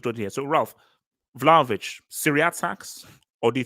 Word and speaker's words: Vlahovic: Vlahovic.